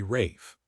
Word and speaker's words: Ralph: His name was spelled Ralph, but he pronounced it the crazy English way, Rafe.